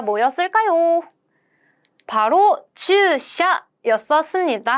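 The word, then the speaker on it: 駐車: 바로 주샤 였었습니다. 그래서 주차는요, 돼야 되잖아요. 그래서 우까지 된다고 한번 생각해 주세요. 그래서 차라는 한자는요, 우리나라 말로 차라고 읽는다면 일본어로도 샤라고 읽습니다.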